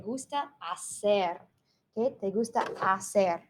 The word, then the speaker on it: hacer: hacer hit they gusta hacer remember the H is silent and hacer means to